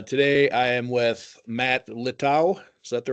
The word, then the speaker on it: Littau: Mike McCay uh today I am with Matt low is that the right pronunciation of your name it is it is